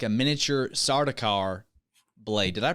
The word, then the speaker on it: Sardaukar: Their eyebrow piercing, glinting like a miniature Sardaukar blade. Did I pronounce that right? Yeah, Sardaukar.